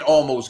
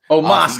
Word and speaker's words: Omos: You got AJ and Almost going. Oh shit! I said his name wrong. Omos gonna win.